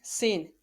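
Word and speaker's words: سين: Next, sin. Sin is pronounced just like za.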